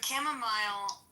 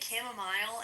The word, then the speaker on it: chamomile: So chamomile, it looks like they say it in the South and Midwest. Some people. Ronnie, have you heard people say chamomile instead of chamomile?